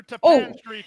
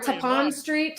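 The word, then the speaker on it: Tappan Street: I've been pronouncing that wrong all week. Same here. In the run to the first. You guys are used to saying tap it, so it's like tap it.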